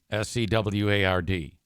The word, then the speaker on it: Seward: And then the AI had to pronounce a street in Grand Rapids, which is Seward. S E W A R D. And anybody who lives here knows that that's Seward.